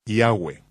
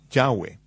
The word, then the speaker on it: Yahweh: Yo pronuncio su nombre Yahweh. Josefo dijo que había 4 vocales sobre la mitra del sumo sacerdote. Yod, Hei, Vav, Hei, que son pronunciadas como vocales en un solo respiro, Yahweh, fluido, Yahweh.